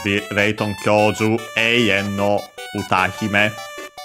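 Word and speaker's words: 歌姫: So yeah, it in Japanese should be Layton Kyoju Eien no Utahime. Utahime means diva. Literally song princess, songstress, diva. Accent on the ta, by the way, that, so yeah,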